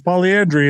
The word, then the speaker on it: polyandry: It's the polyandry." And I'm like, "I think you said it wrong." And he's like, "No, I said it right. It's polyandry."